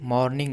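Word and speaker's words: morning: अब इसमें देखिए जो और है मॉर्निंग में और साइलेंट होता है यानी कि र साइलेंट होता है प्रोनाउंसिएशन में तो इसे हम पढ़ेंगे मॉर्निंग मॉर्निंग नहीं पढ़ेंगे मॉर्निंग नहीं होता है मॉर्निंग नेक्स्ट मॉर्निंग अगली सुबह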